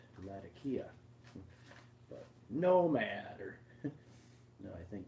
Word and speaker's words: Latakia: supposed to be pronounced the name of the place Syria how it's pronounced by the locals is Latakia not Latakia no matter no I